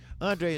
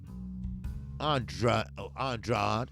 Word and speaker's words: Andrade: Now, Andre is 28. Andrade, or whatever y'all want to call it.